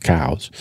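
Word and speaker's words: Coues: or white tails I.E cows deer everyone calls them cou but technically it's pronounced cows really we'll call it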